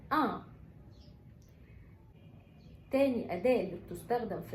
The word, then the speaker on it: un: أول أداة للمفرد المذكر اسمها ان، بتتنطق ان.